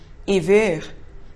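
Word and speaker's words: עִוֵּר: Lembremos que a mesma palavra pele, or, ain, vav, resh, pronunciada iver, significa cego em hebraico.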